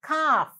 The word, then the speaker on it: calf: baby cow called them i told you in that name there is a silent letter ah the cow's little baby is called the calf c e in f over here did you see that ah right so